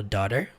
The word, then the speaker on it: daughter: My daughter, se escreve Dogter mesmo, mas fala daughter.